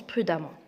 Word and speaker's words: prudemment: Ça s'écrit prudemment, mais ça se prononce prudemment.